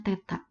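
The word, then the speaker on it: θ: Titik P di sini pada koordinat kutub ditulis P dalam kurung R, ini dibacanya theta.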